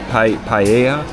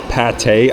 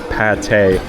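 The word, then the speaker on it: pâté: This is some minced pork, paella. Paya. Okay, I just got word that's pate. I totally butchered that, guys. That is pate.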